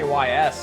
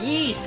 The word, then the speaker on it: Ys: I used to just say Ys honestly and then someone was like it's yeast and I was like oh okay I'll say that from now on.